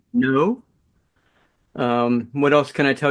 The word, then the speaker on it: Naud: Yes, you pronounce it his Naud name, Naud.